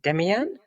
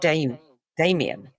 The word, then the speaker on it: Demian: Not entirely sure of the pronunciation. Demian? Damien. Hessian. They call it Damien.